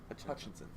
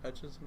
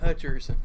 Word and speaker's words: Hutchinson: The main takeaway from that video was him pronouncing Hutchinson wrong. He said, we need Aiden Hutcherson.